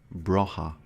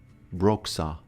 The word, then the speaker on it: Broxa: Broha. Broha? How is this name pronounced? Broxa. They updated Gemini. Broxa. Broexa? The X is pronounced.